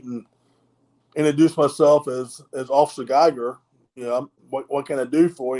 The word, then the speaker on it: Geiger: But I've always known it to be pronounced Geiger with an EI, which from what I understand from some of the German pronunciation, EI is pronounced with a long I.